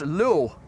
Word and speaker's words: lul: In Dutch, pronounced as lul, which means dick. It's a cuss word. Don't be such a dick. Wees niet zo'n lul. So we pronounce that lul.